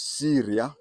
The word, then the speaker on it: Syria: Another one is Syria. The spelling and pronunciation is like the Arab country Syria.